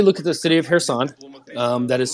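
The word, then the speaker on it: Kherson: um so everybody look at the city of hair sand um that is spelled k-h-e-r hairson k-h-e-r-s-o-n go ahead and open up your map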